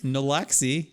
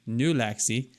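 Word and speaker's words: Nulaxy: well that was anticlimactic nalaxy and n-u-l-a-x-y like like gulaxi but with an N new Lexi I haven't heard of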